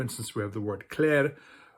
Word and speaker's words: klær: have the word klær, which is spelled with this letter, which is kind of a combination of those two letters, and it's pronounced more or less like an A, very much like the German letter A with the two dots on it, which is also an A.